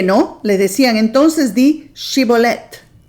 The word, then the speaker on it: Shibolet: Si él decía sibolet por no poder pronunciar de aquel modo, le echaban mano y lo desgollaban junto a los vados del Jordán. Ellos no podían decir shibolet, ellos decían cibolet, no podían decir el sh.